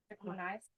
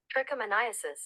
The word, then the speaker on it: trichomoniasis: Trichomoniasis? Let's find out. Let's ask Google. Press that little button right there. Trichomoniasis. Oh, trichomoniasis. That was close.